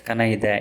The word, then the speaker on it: kanattade: Kanattu plus tu plus a, kanattade. It's pronounced as kanaida in spoken Tulu.